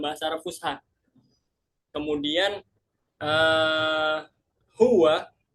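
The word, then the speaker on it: هو: Kemudian uh, huwa, huwa itu tetap huwa sama kayak bahasa Arab Fusha, tapi pengucapannya yang beda. Kita bilangnya huwa, huwa, agak dihentapkan. Huwa.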